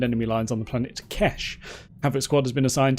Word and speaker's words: Quesh: I've been told it's pronounced Quesh, so we're going with that. We've got a mission to assault the Empire's gauntlet superweapon, but it's in danger.